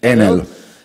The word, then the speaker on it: Enel: Enel is, I think, in Italian we pronunciate it Enel.